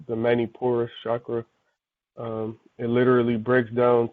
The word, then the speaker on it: Manipura: I was going to ask you, can you spell that, please? Yep. Manipura. Manipura.